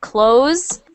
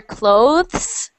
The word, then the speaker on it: clothes: if you want to say this one clo clothes just like this one or clothes with the th both are correct both are correct okay